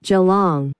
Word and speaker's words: Geelong: しかし正確な発音は後ろにアクセントのある Geelong, Geelong が正解です。